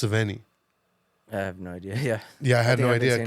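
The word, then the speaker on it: Sevigny: her last name wrong it's not savini it's sveni I have no idea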